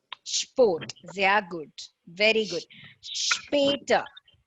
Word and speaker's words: später: Später. Später. Später. Sehr gut. Wait. Später. It's not später, it's später. Später.